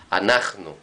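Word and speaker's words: אנחנו: Vemos estos dos puntitos, nos está haciendo divisor silábico acá y mostrando que el acento lo tiene esta sílaba. Está acentuada, alef, nun, het, nun, y vav con puntito en el medio, ¿qué quiere decir? U acentuada.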